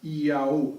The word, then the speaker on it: IAO: Okay, se pronunciaría algo así como Yahu. El tema es que para oídos no hebreos, no judío hablantes, no israelíes hablantes, sonaría algo así como Iaú o Iaú.